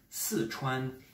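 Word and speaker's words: 四川: la province du Sichuan, normalement quatrième ton ici et premier ton. Sichuan, qui pour les Français qui ne parlent pas le chinois, prononce Sichuan.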